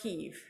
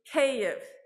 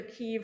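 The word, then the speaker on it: Kyiv: like and not like keeve okay so if you'd like to practice with me does anyone want to try to say after me cave cave okay so you are much closer now than if you try said either kiev or kiev you can also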